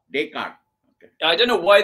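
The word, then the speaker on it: Descartes: it's fine the way you say but it's day cart day cart day cart okay I don't know why the French didn't pron don't pronounce the S makes your pronunciation makes more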